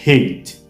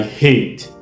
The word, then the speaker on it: hate: Attention, il faut bien prononcer le son H au début de hate.